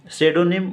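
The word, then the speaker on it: pseudonym: इसमें भी साइलेंट है सेडो निम उपनाम पी साइलेंट है इसमें भी पीएसी यूडी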